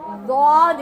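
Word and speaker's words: ض: மேல நாம என்ன செஞ்சுருவோம் லாத கனமா லாது அப்படின்றோம் லாது எல்லாம் கிடையாது வாது எப்படி சொல்லணும் வாது வாது எங்க சுல்தானா மிஸ் ரொம்ப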